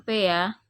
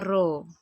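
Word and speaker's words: ρ: Eka lihat naro disini ini bukan peya jadi rumusnya adalah PH = ini bukan peta piro dibacanya ya bacanya roh oke Oh ya ini cara bacanya roh bukan p ro itu ada artinya mas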